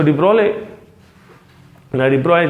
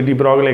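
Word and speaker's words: de Broglie: तो डी ब्रॉय जो भी डी ब्रोगले के हैं, जो आप प्रोनाउंस करते हैं, इन्होंने जो है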